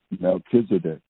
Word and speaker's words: Melchizedek: Melchizedek is how we pronounce it in American English.